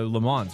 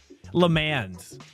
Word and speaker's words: Le Mans: Next week, I think for IMSA is uh Lemons, right? Lemon. Le mans. I hear that's the proper annunciation pronunciation.